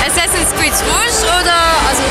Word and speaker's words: Rogue: Rouge? Assassin's Creed Rouge oder, also Rogue, wie auch immer das ausgesprochen wird, oder Unity?